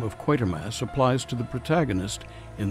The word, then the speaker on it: Quatermass: knew where to begin quatermass is the name Bernard quatermass and make not the mistake of addressing the gentleman as quarter Mass a commonplace mispronunciation lest the cosmic balance